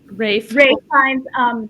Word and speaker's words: Ralph Fiennes: Isabella Rossellini, Ralph Fiennes, or Ralph Fiennes, however you say his name. Rafe Fiennes, John Lithgow, Stanley Tucci.